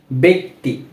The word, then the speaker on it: ব্যক্তি: দ্বিতীয় নিয়মটি হচ্ছে যখন কোনো শব্দের জফলাযুক্ত শব্দের পরেই রস্যিকার থাকে বা দীর্ঘিকার থাকে তখন সেই বর্ণটির উচ্চারণ হয় এ এর মতো।